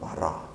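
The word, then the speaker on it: ברא: 창세기 1장 1절과 27절에서만 거기 히브리어로 바라 이렇게 발음하는 바라라고 하는 말이 사용됐습니다.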